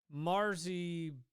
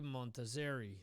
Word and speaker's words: Montazeri: Guitarist Montarzi Montarzi, what the hell? I can't pronounce this. Montazeri. There you go.